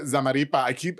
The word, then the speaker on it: Zamarripa: My very special guest, Miss Zamaripa. I swear to God, I'm going to mess up that last name soon. You're saying it right. Zamaripa is here with Simply Poppin balloons.